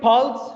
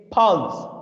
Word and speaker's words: Pfalz: The next one is Pulse, not very interesting wine region. That's okay. Its name is Pulse, P-F-L-S, Pulse, not Pulse. Pulse मत बोलना.